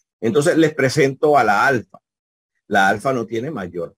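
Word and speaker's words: ἄλφα: tenemos la Alfa mayúscula y aquí tenemos la Alfa minúscula tu sonido lo representamos con el fonema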